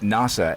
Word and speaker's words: Nasa: named by her mother for the American Space Agency NASA. She pronounces it NASA.